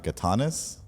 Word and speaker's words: Gatanis: I'm here with my friend Shauna Gatanis. Did I pronounce that right? Yes, I did. Yeah. Congratulations. Now you're Greek. Shauna Gatanis.